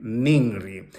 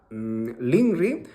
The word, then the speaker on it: ninri: en la escritura, y la normalizada nos exige a que escribamos con la N, NINRI. Pero si tú no lo pronuncias de esa manera, escribe así y pronuncia LINRI o ringri, depende de qué región eres.